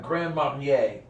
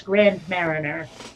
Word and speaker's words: Grand Marnier: I've mentioned before that people in Vermont do not pronounce French like it's French so that's grand Mariner okay I got [